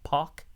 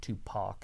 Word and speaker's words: PAC: We got Kenny Omega, Hangman Page versus John Moxley and Pac, or Pac? Pac, huh? It's Pac. I think it's Pac. It's Pac because it's not Tupac, it's Pac.